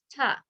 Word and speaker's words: to: Okay, if to was followed then by a consonant, then you would pronounce it as the word ta, as the beginning of the word tug. So you're going to say to relate or not understand.